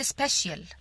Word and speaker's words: special: لسه حالا انا بقول لك especially دي هي الادفرب من كلمة special. ما بقولش special. كلمة social مش بقول social، بقول social.